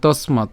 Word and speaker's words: তস্মাৎ: এরপর তস্মাৎ, আমরা এখানে উচ্চারণ করছি কি? দন্তাস্য পর্যন্ত উচ্চারণ করে ম আকারটাকে আলাদা উচ্চারণ করছি, তাহলে তস্মাৎ।